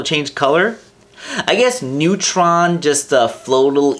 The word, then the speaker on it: Newtron: change color I guess Neutron just uh flow a little easier because it only has two syllables and on top of that it sounds like Neutron the fundamental particle so I guess Dr